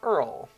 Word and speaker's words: URL: sat a yeah says my mom used to pronounce URL as Earl um I I could